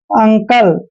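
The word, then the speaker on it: uncle: Next देखिए, जैसे यू एन सी एल ई, यहाँ पर भी यू के बाद दो कॉन्सोनेंट आए हैं, इसलिए यू का उच्चारण ए करते हैं, यानी कि इसको पढ़ते हैं हम अंकल।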